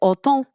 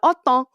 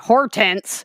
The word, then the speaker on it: Hortense: the phonetic English spelling, which is Hortense, is how it's spelled, but it's pronounced in French as like autant. It's so different, but it's literally, yeah, autant. And out here we're like, Hortense, come on.